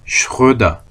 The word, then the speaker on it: Schröder: Sie sind Herr Schröder. 자, 오고 발음 어떻게 한다 그러냐면 오 음라우트는 오 한 상태에서 으 왜가 아니라 했어요. 왜 아닙니다.